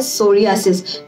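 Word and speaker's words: psoriasis: And second one इज सोरियासिस। ये scalp का भी सोरियासिस होता है, सो पी इज साइलेंट।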